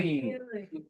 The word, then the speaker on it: 키위: 정통 발음을 하려면 어떻게 해야 돼? 뭐? 키위. 어떻게 발음해야 돼? 키우이, 키우이, 틀어. 됐어. 위, 어휴, 입들이 앞으로 나온 채로 끝나야 된다고.